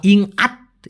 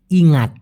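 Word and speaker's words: ingat: ইঙাত বানান করতে গেলে অনেকে ইঙাত এইভাবে বলে অথবা ইংআত এভাবে বলে। তো আমি দুটাই দিয়ে দিলাম, কিন্তু সঠিক উচ্চারণটা হবে, আপনি শুনে নেন, ইঙাত।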